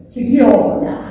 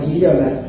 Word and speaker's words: Gigliola: Ese, vos no lo pronunciaste todavía. Decilo, a ver. Giliola. Bravo. Bueno, entonces empezamos a buscar, y a mí me decían Lola por Giliola.